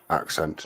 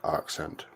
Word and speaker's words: accent: So the word accent is pronounced accent, not accent. Try it Again, out. there's fine tuning, so Accent. It's like you've sent an axe.